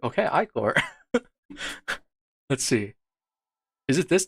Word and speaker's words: Ichor: Pronounce Icor. Icor. Oh, that's correct. Okay, Icor.